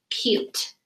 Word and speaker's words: cute: And what I like to do when I have a silent E word or a sneaky E word is put a line through the sneaky E so I remember the E stays silent. And the U says it's long sound.